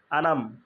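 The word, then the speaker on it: أنعمت: আলাইহিম তা আলাইহিম এই আনাম আনাম হয়ে যায় আনাম আনাম না আন আমের একটু থামবো আইন দিয়ে লিখে চেপে আম প্রথমটা আলিফ বা হামজা উচ্চারণ আন তারপরে তারপর আইনের উচ্চারণ এই জায়গাটা সবচেয়ে বেশি ভুল হয় আলাইহিম তাহলে যদি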